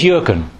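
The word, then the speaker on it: Jürgen: manager at Liverpool Football Club apparently this is yuren yeah a football manager not a priest not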